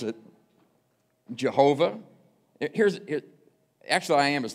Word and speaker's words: Jehovah: But four consonants, and then it took the vowels from Adonai, which means Lord, stuck it in the consonants and come up with, a long time ago we called it Jehovah, called this name Jehovah,